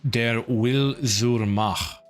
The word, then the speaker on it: Der Wille zur Macht: Currently hunting down the English translation of Der Wille zur Macht. That's how you pronounce that.